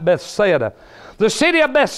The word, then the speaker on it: Bethsaida: of the city a pathetic Bethsaida I should pronounce that right Bethsaida the city of best said was located at